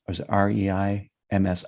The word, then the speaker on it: Reims: Rhymes with France. And it's spelled I think it's RHEIM like Mary S. Spelled rhymes. Or is it REIMS? REIMS, right?